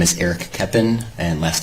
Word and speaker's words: Koeppen: name and spell it my name is eric keppen and last name is spelled k-o-e-p-p-e-n okay a couple of things